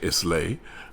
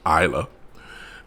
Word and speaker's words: Islay: Then you have Islay, which most people who are not Scotch or of Scotch extraction, they say Islay, but it is the word is actually pronounced Islay, and it is it's